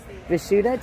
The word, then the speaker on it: Vishuddha: Is that how you pronounce that? Yes. Vishuddha tea.